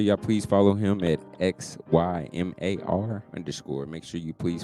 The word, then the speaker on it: Xymar: uh you can find me on instagram at xymar underscore that's your mars pronunciation that's my middle name uh yes x